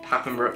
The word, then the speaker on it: Papenbrook: Papenbrook, yeah.